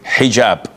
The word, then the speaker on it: hijab: And I know in France they don't pronounce the h when it is in the beginning of the word as in hotel or but this is an Arabic word.